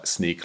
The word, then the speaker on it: Snyk: The original idea for Snyk was that we will kind of instrument an application and we will sneak data out, but we'll spell it with Y like the cool kids do.